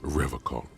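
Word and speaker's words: Revachol: He pronounces Revacol with a hard K, unlike other people. Ну так риторики, поясни, что это значит, или энциклопедия. Хоть кто-нибудь поясни, что это значит. Serious question time. This man is no innocent. No one is. Ты сказал Ревакол? I like to pronounce it the hard way, the old way, the Vespertine way.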